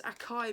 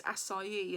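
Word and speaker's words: açaí: I sorry because I always thought it was a chi berry and it's not I looked up the pronunciation of various acai and it just sounds so weird yeah so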